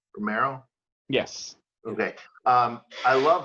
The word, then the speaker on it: Romero: Oh no, you brought up Cesar Romero, and how great is he went and did I pronounce his last name correctly? Romero?